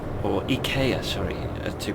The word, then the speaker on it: IKEA: Because we're not exiting for IKEA, or IKEA, sorry, to pronounce it correctly.